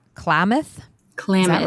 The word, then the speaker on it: Klamath: So, from San Francisco, you headed up to, is it pronounced Klamath? Klamath, is that right? Yeah. Klamath.